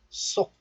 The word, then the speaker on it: 속: But still, the first consonant 시옷 of this letter becomes tensed. So 속 becomes 쏙.